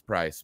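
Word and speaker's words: Preiss: And it looks like Priest. It's not spelled like it's not spelled Price. Well, no, I think it is Price, but it crossed me up at first. So now I think I'm almost positive it's Price, but it is spelled like Prie.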